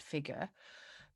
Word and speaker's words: figure: um typically like non-rhotic british accent would be without the strong r at the end of this word figure but out starts with the vowel so this r comes back so we have to pronounce this r at the end to link it without so figure out but